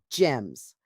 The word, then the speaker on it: G3MS: GEMS. That is spelled G3MS.